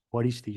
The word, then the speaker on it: Juaristi: Matiz Y es que la J de mi segundo apellido de mi primer apellido perdón de se pronuncia J juaristi joh juaristi es una